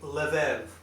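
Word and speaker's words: לב: you'll say you'll see lev and you'll say lev or levav okay and it's pronounced same letter as here sorry about that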